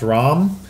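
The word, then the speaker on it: RAAM: we have General ROM it's uh double A it's pronounced ROM like uh how much wrong uh from Gears of War and we also have Dr Brynn from Half-Life 2.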